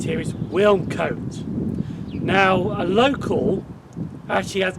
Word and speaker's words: Wilnecote: YouTube and he says, I think the way you say it is Wilnecote. You say win and then cut. So you say Wilnecote. Even though some people say Wilnecote. So that's how you say it.